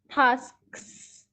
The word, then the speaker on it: tasks: You have to pronounce every alphabet in the word for tasks.